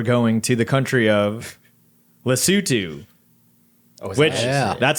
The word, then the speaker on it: Lesotho: we're doing but yeah so it's actually not pronounced Lesotho it's Lesotho or lesotu the sutu like we all say it together